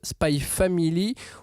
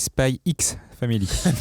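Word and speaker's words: Spy × Family: c'est Spy X Family. Aïe. Ne prononce pas le X.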